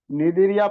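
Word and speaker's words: Cnidaria: 2 নম্বর যেটা রয়েছে নিডেরিয়া ফাইলাম, C silent রয়েছে, নিডেরিয়া, নিডেরিয়া ফাইলাম।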